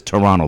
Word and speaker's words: Toronto: there it's called Toronto anybody that's from there says Toronto they leave out the middle T right silent yeah Toronto yeah yeah so we see the middle T you don't see it it's Toronto like it's an N